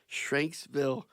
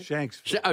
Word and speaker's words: Shanksville: Greetings from Shanksville, Pennsylvania. So, Steve, I say it all right? Shanksville. Shank. Is it? Like No, like shank, like a shank.